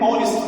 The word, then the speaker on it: honest: An honest man because of H is not pronounced. An honest man.